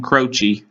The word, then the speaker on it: Croce: we'll see okay so next we have jim croce that is how you pronounce his name because i looked it up